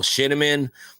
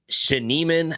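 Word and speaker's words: Schneemann: Daniel Shinaman um or Shaneiman I think is how you say it for the Guardians.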